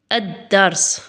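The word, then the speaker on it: الدرس: Le son de L disparaît et la lettre suivante est doublée avec une shaedda. Regardez là, je vais vous donner un exemple. Adars.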